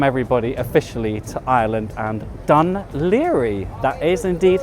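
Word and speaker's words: Dún Laoghaire: Welcome everybody officially to Ireland and Dan Liri, that is indeed how you pronounce it.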